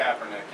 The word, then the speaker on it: Kaepernick: Colin Kaepernick, is that how you pronounce it? Kaepernick, yeah.